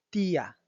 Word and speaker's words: tía: Y el último ejemplo es tía, tía, haciendo la división entre la I y la A.